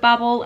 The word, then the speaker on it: Babel: I will say though I'm pronouncing it Babel because in the book students that are part of the Institute of Babel are nicknamed bablas so even though we say in the UK Babel and I'm just I I